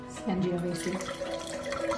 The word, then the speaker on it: Sangiovese: How do you pronounce this again, Dad? Sangiovese.